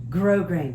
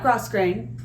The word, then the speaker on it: grosgrain: Today's project is a 4-gore silk skirt with grosgrain, not grosgrain, grosgrain.